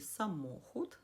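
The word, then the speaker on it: samochód: Отже, наприклад, в слові самохуд наголос падає на склад мо. І це другий склад із кінця.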